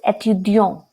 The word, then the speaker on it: étudiant: he'll say je suis étudiant. So when we pronounce étudiant, there is no sound of t. Why? Because e, it is not followed by a vowel.